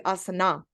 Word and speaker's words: Asana: out that it's neither in Sanskrit it's neither Asana no um Asana but it's actually Asana so it's more um of definitely more of a personal preference but but uh I guess standard American pronunciation is awesome so um and uh